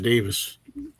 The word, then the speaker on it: Davies: Speaking of pronunciation, I've heard that Ray Davies' name is supposed to be pronounced Davis.